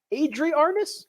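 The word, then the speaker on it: Adri Arnaus: ep world tour guy adrie arnis i believe is how he pronounces it so don't look at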